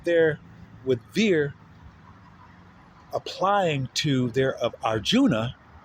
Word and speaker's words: Vere: He's a veer.